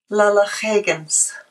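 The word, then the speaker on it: Lalaxaaygans: Because I was asking you how to say your Instagram and Twitter handle, because it's spelled L-A-L-A-X-A-A-Y-G-A-N-S. Yes. And that is? Lala Higgins.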